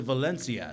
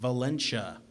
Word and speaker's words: Valencia: my coffee Mr mono Mr Valencia she says but she pronounces it Valena likening my name to a venial disease I think we're ready